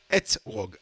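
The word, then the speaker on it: אתרוג: etrog, etrog. Hein. Il y a la liaison entre le E et le T. Et puis il y a la deuxième syllabe, etrog.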